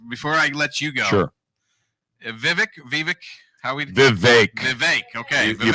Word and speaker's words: Vivek: ask him and so he said it's actually Vivek but he's clearly used